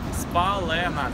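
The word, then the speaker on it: Spálená: Вов, как читается правильно? Улица Спалена, та, которую спалили.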